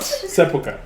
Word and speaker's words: sepulchre: Sepulchre. That was not what was said. That was not what was said. He said sepulchre, Sepulture?